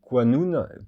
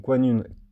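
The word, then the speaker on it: qanoun: Il y a Kananoun Q A N U et Quanun Q A N O U N. Vous voyez ? Donc Quanun Q a N un, on peut l'écrire aussi avec un O, ce qui donne quoun.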